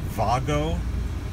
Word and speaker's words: Wago: The connectors I used were made by a company called Wago. They're German. I guess the Germans pronounce it Vago.